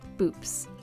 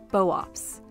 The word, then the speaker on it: Boops: Instead of boops, it's pronounced boops, with the first part similar to the bow in bovine, and the second part like ops in optics.